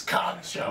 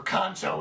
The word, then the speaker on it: kancho: word is known as khan show not really pronounced exactly the way it's spelled now the direct translation for kancho is enema now kancho